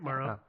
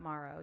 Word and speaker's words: Maro: I believe it's pronounced marrow that's right Maro it's like Maru the cat but with an O instead but Maro yeah yeah anyway this